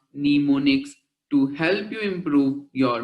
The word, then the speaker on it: mnemonics: There are a number of strategies for improving memory called mnemonics, pronounced mnemonics, to help you improve your memory.